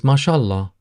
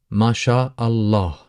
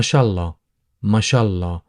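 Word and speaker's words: ما شاء الله: this is dialect and people uh tend to soften and tend to kind of uh make the phrase a little bit more easier or smoother to pronounce then people would say Mah mashah mashah in terms of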